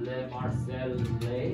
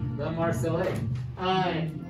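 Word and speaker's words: La Marseillaise: It's called Le Marseillais. Am I saying it right? Le Marseillais.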